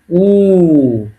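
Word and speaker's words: У: তারপরে পি কে এর উচ্চারণটা কি হবে? এর। আর এই যে ওয়াই, ওয়াই এটা হলো অ্যাকচুয়ালি উ।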